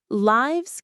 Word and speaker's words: lives: When it's the plural of life, it's pronounced like wives with a long i sound.